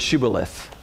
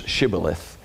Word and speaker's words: Shibboleth: hey, say the word Shibboleth. For some reason, people from Ephraim, the sheen, the Hebrew letter that the word started with, could be pronounced as SH or S.